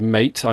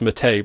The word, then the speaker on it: MATE: also promote it alongside mate I know that it's pronounced I think it's pronounced matei but I being British it's it's it just looks like mate to me and they promote its